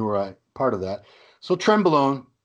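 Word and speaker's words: Trenbolone: to pronounce it though you're saying trend ballin I believe tread bowl own tremble own tremble own tremble own okay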